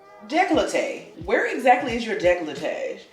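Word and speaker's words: décolleté: you want to match the foundation to the decoche I'm glad I know I have a negligee girl I thought the child was trying to say negligee really this is how you say it they call it decollete I am talking about yeah I was about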